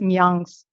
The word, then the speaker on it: Mayangs: Gerson, in his book, A Linguistic Survey of India, terms the Bishnupuriya Manipuris also as Mayangs. In our Bishnupuriya Manipuri language, it is pronounced as Myangs.